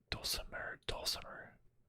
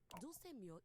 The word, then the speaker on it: Dulce Mio: Oh, Dulcimer. No. Dulce Mio is completely different pronunciation, that makes sense.